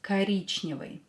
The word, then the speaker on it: коричневый: What is коричневый? Коричневый. Yes, коричневый is brown. So, по цвету, by color. Давайте напишем коричневый. Коричневый. Коричневый. Ударение на букву И. И is stressed. Скажите, say, коричневый.